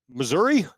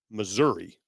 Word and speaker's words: Missouri: here I I meant the pronunciation depends on where you're from oh yes because I I would say being from the West Coast Missouri I would also say Missouri people in Missouri say missou that's why you're a